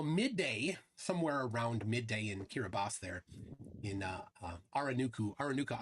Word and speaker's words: Kiribati: tested like I confirmed the right way to pronounce this that's uh uh aranaku Island in kiribas kiribos they say not Kiribati hirabas there it is